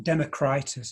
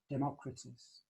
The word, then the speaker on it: Democritus: often associated with uh well democritus is how we pronounce it democritus probably more like it um is a a